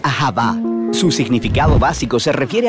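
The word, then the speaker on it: אהבה: como lo es en el hebreo antiguo se pronuncia aaba su significado básico se refiere a la clase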